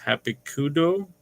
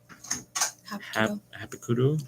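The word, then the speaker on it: Hapkido: traditional, uh, uh, Japanese, h I can't even pronounce some of these. Hikudo, is am I saying that right there? Hapikudo.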